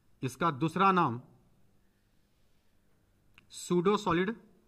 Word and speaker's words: pseudo: दूसरे साइड लिखो, इसका दूसरा नाम सूडो, पी साइलेंट है, PSEUDO, सूडो सॉलिड, छदम ठोस।